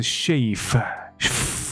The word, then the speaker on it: chafe: 后面这个还真难翻。所以这个 constituency 他们 shave 的这个东西，这个 shave 注意好，我不是讲 shave 是那个剃胡子啊，或者剃毛发叫 shave，剃头也可以是 shave，那是 ve 结尾。那这个字的发音是 shave， OK， C H A F E，它的意思呢是摩擦，什么摩擦？就假设今天我这样一直撸我的皮，撸到它有点红肿，这个就叫做 shave。所以我这边有查一下这个